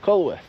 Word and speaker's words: Culworth: aren be close together how do you pronounce k down here yeah it's cworth cworth yeah I'm letting him